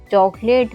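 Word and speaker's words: chocolate: silent रहता है जैसे जैसे है चौ लेट चॉकलेट में ओ के बाद एल आया हुआ है कोई कंसोनेंट इसके बाद ए आया हुआ है तो यहां पर ओ साइलेंट है ऐसे ही कैथलिक कैथोलिक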